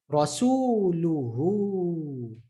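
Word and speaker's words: رسوله: It's telling you need to extend that hu to become hu. Rasuluhu. Rasuluhu. Can we see that hu and this hu is pronounced the same?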